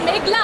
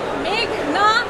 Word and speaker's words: মেঘনা: মেঘলা আলম আদালতে এসে শুনি পিপি বলছেন মেঘলা আলম আমার নাম মেঘনা আলম বাংলাদেশ একটা সুন্দর দেশ